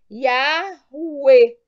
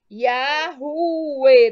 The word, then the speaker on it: Yahweh: Ora, unindo-se 3 passos acima, chegamos à seguinte pronúncia. Yahweh. Yahweh, dependendo do sotaque.